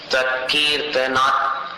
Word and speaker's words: त्वत्कीर्तनात्: कीर्तनात् ये त अलग है और तम इवाशु वो तम का त अलग है, इसलिए दोनों का उच्चारण सुनने में स्पष्ट आना चाहिए कि दो अलग अलग है। तत्कीर्तनात् तम इवाशुभिधामुपैति।